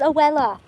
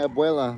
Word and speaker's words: abuela: It's his abuela. My abuela, my grandma. I know it has a B in it, but when you pronounce it with the accent, I don't think you hear the B. Abuela.